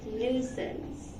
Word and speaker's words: nuisance: Can you pronounce this word? Did you say nuisance? It's nuisance.